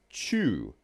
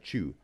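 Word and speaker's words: Chuu: candles with her nose is Chu, pronounced like chewing, right? Chew.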